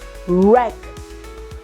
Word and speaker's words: wreck: rot wristband wreckage right in all of these words letter W is silent wrath Wrath of eches